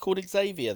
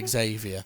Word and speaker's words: Xavier: can't pronounce the word Xavier we don't have a x-ray is zer again it's got the X it's an X it's an x dash like X-Men is x dash okay so would you